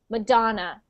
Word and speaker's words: Madonna: ah madon yes so when we say that word in English we pronounce it with an A so madon and we pronounce the do as the big syllable in so we we say that part the loudest so Madonna Madonna Madonna